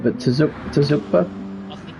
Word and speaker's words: Tsukuba: I don't know if I'm pronouncing it right, but Tsukuba? I think it's Tsukuba, isn't it? Oh, Tsukuba. Oh, I butchered that last night then.